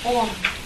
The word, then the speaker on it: Om: The Sanskrit is A-U-M, but nobody, it's pronounced Om.